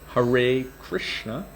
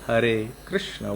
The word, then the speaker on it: Hare Krishna: gurudev so and then of course you've got the americanized pronunciation of mahamantra hare krishna versus the indian one hare krishna which is a rolled r and if you're having